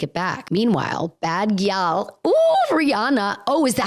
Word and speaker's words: Rihanna: Is it Rihanna? I've been saying Raina. Oh my God. Is this how I find out I'm a little dyslexic? Anyway, her name is Rihanna.